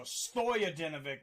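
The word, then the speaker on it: Stojadinović: lazar stojo dinovic so stoya dinovic is going to be the pronunciation on that one and out of the red corner he has a big favorite minus 670.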